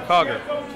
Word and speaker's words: Cogar: Is it Cogger or Cogger? Cogger. Oh, okay, Cogger. I was saying it wrong, so it's like the food store.